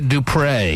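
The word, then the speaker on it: Dupré: to this Ashley Alexandra Dupre, yes, that's how she pronounces her last name. There's an accent aigu over the last E because she's so French.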